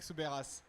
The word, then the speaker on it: Soubeyras: Do you want really me to say it as a French person? Yes. Soubeyras. Yeah, this is the right way.